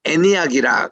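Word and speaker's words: Antioch: 그렇게 크지가 않습니다이 안디옥이라는이 곳은요 우리 안디옥을 영어로 애니악이라 그렇게 발음을 합니다 처음에 제가 미국 유학 갔을 때에이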